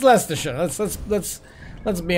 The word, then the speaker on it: Leicestershire: so so leicestershire um that's not how you pronounce that particular word but leicestershire it's it's less to show let's let's let's let's